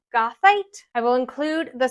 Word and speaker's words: goethite: A very, very common inclusion you'll see in amethyst is called gothite.